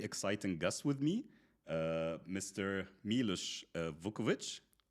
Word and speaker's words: Milos Vukovic: Milos Vukovic? Yes, you pronounce it very well. Milos Vukovic. Perfect. Like in Serbia.